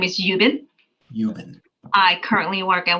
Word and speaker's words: Yubin: on my screen I don't know if I'm pronouncing her name right y-u-b-i-n okay and we'll find out so my name is yubin yubin I currently work at Westchester Medical Center